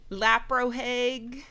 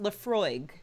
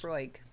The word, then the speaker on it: Laphroaig: Laprohaig. Oh, wait.